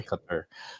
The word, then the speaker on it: Qatar: for my pronunciation man I'm still saying Qatar when should be cut her so bear with me